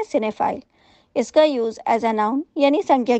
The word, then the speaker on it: cinephile: आई एल ए और इसे हम प्रोनाउंस करते हैं सिनेप्ले इसका उसे यानी संख्या